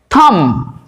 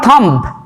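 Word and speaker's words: thumb: যেমন ধরো বুড়া আঙুল থাম নট থাম্ব ল্যাম্প নয় ল্যাম্প এল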